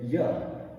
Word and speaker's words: you: And also, this word you is not a stressed syllable. So sometimes instead of you will hear people say ya. Again, this U sound will get reduced to the sound. Instead of you will hear ya.